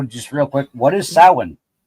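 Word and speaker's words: Samhain: Um it's Irish. So it's it's a Gaelic word. Um so it looks like Sam Hane, but it's sin.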